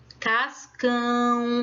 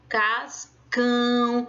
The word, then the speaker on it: Cascão: Cascão, ó. Cascão. Então, eu boto mais ênfase, eu coloco mais força para dizer cão.